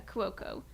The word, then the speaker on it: Cuoco: Cuoco? Yeah, Cuoco.